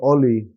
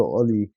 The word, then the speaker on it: Ole: Now I feel like under Ollie or as Ronaldo pronounces it under Ole I feel like he introduced the pride to play for Manchester United back into the squad.